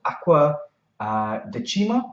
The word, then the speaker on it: Acqua Decima: And this one is called Acqua Decima. I think that's the way you pronounce it.